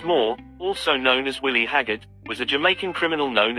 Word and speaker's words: Haggart: He was given the sobriquet Haggart, a patois pronunciation of hog heart.